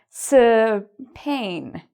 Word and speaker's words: Spain: Spain.